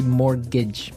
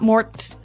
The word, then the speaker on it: mortgage: with a t yeah it has a t in it but you don't pronounce it you say morgage morgage so not Mort mortgage not mortgage morgage